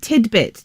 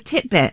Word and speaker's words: tidbit: Well, somebody said the word tidbit to me. T-I-D-B-I-T. Yeah. And I thought it was titbit. Everyone thinks it's titbit. No.